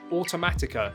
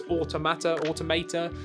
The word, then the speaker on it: Automata: say this right, Nier Automata? Is that how you say it? I always call it Automatica. It ain't that. It's Automata. I don't know.